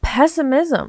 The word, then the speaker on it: pessimism: That's just a different level of observation, not pessimism. You put the wrong emphasis on the wrong syllable.